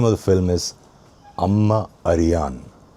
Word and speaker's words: Amma Ariyan: The vowel sequences short, short, short, short, long. There's only one long vowel sound here, and that is yan, yan. Everything else is short. A ma a ri yan is long. So, four continuous short sequence, and then it's long.